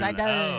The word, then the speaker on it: Seidel: the very Seidel. Oh, it's like a Z Seidel, almost. the very Seidel. German way to pronounce it.